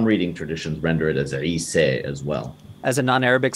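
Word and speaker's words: عيسى: And some reading traditions render it as Isa as well. As a non-Arabic speaker, I'm not particularly good at pronouncing that initial ayin, a letter produced in the back of your throat called a pharyngeal consonant.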